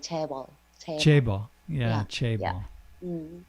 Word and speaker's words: 재벌: It's a 재벌, 재벌. Tape. Yeah. Yeah, it's like JAE, Yeah. J, and BULL, like 재벌, 재벌. Chaebol.